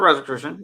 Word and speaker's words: Rosicrucian: The Rosicrucians? I don't know if I'm saying that right. Rosicrucian. Is that right? Astral travel. That's a Rosicrucian.